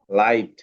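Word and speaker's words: light: লাইট। লাইট, হ্যাঁ, লাইট। ঠিক আছে, এখানে জিএইচ টা সাইলেন্ট হয়ে গেছে।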